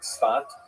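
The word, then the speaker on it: Tzfat: northern Israel city of Sapp pronounced in Hebrew spot or spots.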